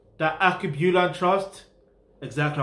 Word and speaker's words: Alkebulan: You pronounce the Alkebulan Trust exactly how I just pronounced it, but we're gonna break it down.